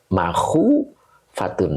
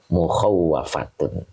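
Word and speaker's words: مُخَوَّفَةٌ: sifat makhu fatun Nah di sini ada juga yang bacanya ini wawnya pakai tasdid ya kalau pakai tasdid berarti khawafa yukhawwifu berarti mukhawwafatun nah gitu Ada juga yang bacanya makhufatun Ya jadi ada yang baca dua qiroat ya ada yang bacanya mukhawwafatun ada juga yang bacanya makhufat Oke karena di sini sudah ada tasdid kita baca mukhawafatun ya yaitu artinya yang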